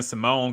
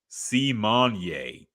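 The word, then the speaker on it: Symoné: that yeah um other things real quick Raven Simone corrected everybody this week she said her name is actually pronounced simonier to which I say too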